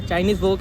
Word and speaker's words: चाइनीज़ वॉक: हाँ चाइनीज़ वॉक है इसकी सही प्रोनाउंसिएशन। तो चलो जब ऑर्डर गिरता है हम आपको दिखाते हैं।